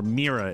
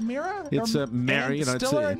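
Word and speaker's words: Meara: Legend an mea or merera as she used to pronounce it I it's isn't it Mera it's like it's like my name with with the without the O that's that's all it is she died Saturday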